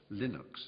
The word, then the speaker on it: Linux: It was known as Linux, or Linux, as some people pronounce it.